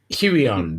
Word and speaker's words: Huion: Huion, they're a Chinese.